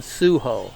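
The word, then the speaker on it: Suiho: There's another one called Suho, and Suho is spelled S-U-I-H-O.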